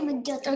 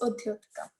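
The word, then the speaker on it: उद्योतकम्: Is it Udyotikam or Mudyotikam? Okay, it's Udyotikam.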